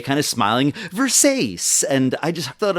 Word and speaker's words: Versace: he's like the name of the brand it's pronounced Versace but it's a beautiful dress and it looks